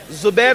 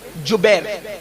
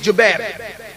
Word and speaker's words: جبیر: کو عبداللہ ابن جبیر، زبیر نہیں بلکہ جبیر، جیم سے جبیر، تھوڑا سا آج کل